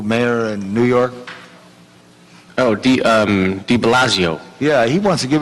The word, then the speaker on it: de Blasio: And what's the, correctly pronounced, the name of the new mayor in New York? Oh, De Blasio.